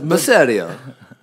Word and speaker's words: Masseria: doesn't land a goddamn Masseria like a pizzeria Masseria oh thank you badly